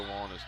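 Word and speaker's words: Wollan: and for those listening there are two Wallings by pronunciation Carter Wallace w-o-l-l-a-n number two number three is Seth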